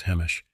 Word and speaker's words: Hamish: I am Hamish, pronounced as Hemish, and I live in the Netherlands.